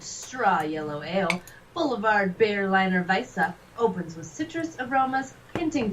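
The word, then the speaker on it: Weiße: Their W's are pronounced as like a V, and then Weisse, and like a double S is like a. It makes it different. More of like a Z sound. Zeta. Weisse. Like Wasser is Wasser.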